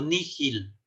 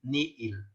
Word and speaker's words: nihil: nada es ni él algunos pronuncian como ni gil como si fuera una j pero esto es una variante de una costumbre para poder distinguir la doble y propiamente no es correcto no entonces nosotros vamos a aprender como sacando un auditor creación ex nihilo nihil entonces hay que pronunciar la doble y ni el no con los tres